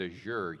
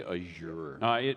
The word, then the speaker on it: Azure: I'm bougie, so I say Azure. It is actually pronounced Azure. There's a whole YouTube video on that, believe it or not. It's actually pronounced Azure, like pressure.